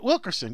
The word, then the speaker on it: Wilkerson: Yeah, Wilkerson.